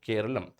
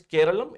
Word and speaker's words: Keralam: So from now on it'll be called Keralum.